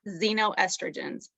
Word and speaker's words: xenoestrogens: become familiar with it it's spelled x e n o estrogen and you say it xenoestrogens they're often synthetic things